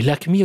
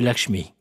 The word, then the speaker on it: Lakshmi: Tu appelles Lakshman Lakman et Lakmi au lieu de Lakshmi.